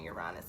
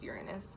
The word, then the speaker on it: Uranus: like most of us we've been saying Uranus for years it's Uranus it's actually not even you're honest its Uranus so this is the Uranus retrograde I feel fancy